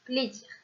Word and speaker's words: plaisir: On écrit play, première syllabe, et zir, deuxième syllabe, pour former le mot plaisir.